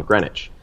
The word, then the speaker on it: Greenwich: it is in Greenwich I apologize for pronouncing the W in the video if you know what time it is in Greenwich and you use the